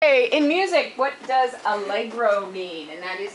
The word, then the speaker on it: allegro: hey in music what does algro mean and that is how you pronounce it because as most of you know